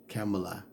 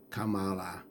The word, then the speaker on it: Kamala: you don't the Mis mispronouncing her name camela Kamala Kamala mispronouncing Kaepernick's name back